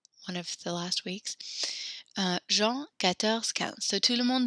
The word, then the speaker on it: Jean: So we actually pronounce Jean, the John as Jean. Jean.